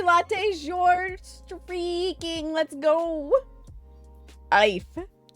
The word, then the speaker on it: Aoife: Ife. You're giving me a whole bunch of vowels with one consonant and you expect me to pronounce it right? Mm-mm. Aoife. How the fuck do you get Aoife out of that? Because we are Irish.